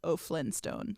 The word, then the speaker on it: OFLYNNSTONE: So it's O'Flynstone. Kind of like the Flintstones, but it's spelled weird.